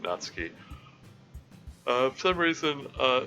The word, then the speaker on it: Natsuki: time playing the game I I mentally pronounced naty's name as natsuki um that's yeah I just uh interacting with the fandom got me used to the idea of pronouncing it natski uh some reason uh